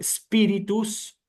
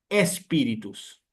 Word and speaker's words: spiritus: como se están especializando, si a alguno se le escapa decir espíritus o espíritu, no hay que decirlo más así, ¿eh? Hay que empezar propiamente con la letra S, como hacen los italianos, ¿sí?